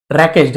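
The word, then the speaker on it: wreckage: रैकेज W silent होता है।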